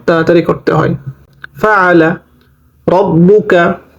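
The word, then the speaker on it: رَبُّكَ: করতে হয় ফাআলা রব্বুকা এখানে কোন টান হবে না তাশদি আসছে বা এর উপরে আর তাহসীদের উচ্চারণ দুইবার হয় প্রথমবার ডানদিকের হরকতের সঙ্গে দ্বিতীয়বার নিজ হরকতের সঙ্গে র জবর রব বা পেশ বু কাফ জবর কা রব্বুকা বি আসহা বিল ফিল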